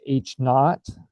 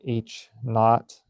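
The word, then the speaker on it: H₀: It's pronounced H naught or H naught. Not as in 0, but I suppose it could be not as in not interesting.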